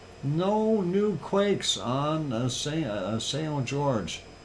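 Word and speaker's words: São Jorge: new Quakes on a sale George or Sal Jorte if you want to pronounce it in Portuguese uh been quiet since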